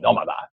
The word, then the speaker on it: Nomada: their newest Venture nomada which would be the way you pronounce it in Spanish nomada probably people say n matter uh their Innovative Concepts